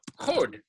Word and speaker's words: HoD: I heard the pronunciation like more like hold, oh, and like more round. Oh, that's better. I just thought that it's sometimes pronounced a bit like a diphthong Okay. because it's more like an English oh.